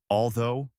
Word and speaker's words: although: Is it the O of though and although or the aw of thought? Once you differentiate that, you're halfway there. So, to recap, though and although both rhyme with go and snow.